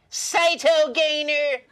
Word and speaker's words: Cytogainer: get the metabolism going i think the correct pronunciation is saito gainer anyway it has a